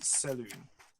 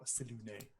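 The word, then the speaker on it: Selûne: Okay, this is a small a shrine or a very very very small temple to the goddess Saloon or Selune depending on how you want to pronounce it.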